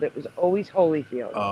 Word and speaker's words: Holyfield: I remember it's spelled Hollyfield but pronounced Holyfield. I don't remember it Hollyfield. No, because he was he was never really They called him Holyfield, too. No, no, no. They pronounced it Holyfield.